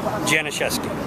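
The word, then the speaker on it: Janiszewski: Can you pronounce it again? Janashes.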